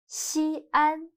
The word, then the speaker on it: Xi'an: If we write Xi and An together, it'll become one syllable. Xian means first, but Xi'an are 2 syllables. So when the syllable beginning with a, o, or follows another syllable, the syllable dividing mark should be used. Its function is to separate the 2 syllables. So the correct pinyin for Xi'an is Xi'an.